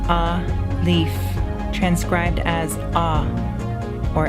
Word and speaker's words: Aleph: Aleph, pronounced a-leaf, transcribed as a or a, the number 1, meaning ox, the fiery intelligence.